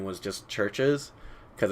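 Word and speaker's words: CHVRCHES: I thought it was like Chiverches or Chiverge. Anyway, I pronounced that band's name for a really long time incorrectly until I saw them live, and they're like Churches, and I was like, oh yeah, that makes a lot of sense. That's how this name is pronounced.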